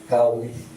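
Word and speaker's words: 高麗: Kaoli, Chinese pronunciation of Korea.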